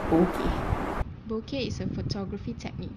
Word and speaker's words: bokeh: In Japanese, the term is spelled as B-O-K-E and not B-O-K-E-H. Mike Johnson added the H at the end due to Westerners pronouncing the word bokeh as bok.